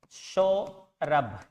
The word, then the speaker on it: सौरभ: जी दोस्तों सो रब इसमें भय है। यहां ब का उच्चारण नहीं है।